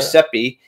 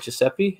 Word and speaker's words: Giuseppe: Giuseppe. And is that how you say it? Giuseppe? Giuseppe. Giuseppe.